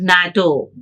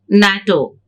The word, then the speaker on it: NATO: We pronounce as word NATO. NATO.